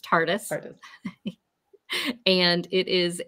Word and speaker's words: TARDIS: It's pronounced TARDIS.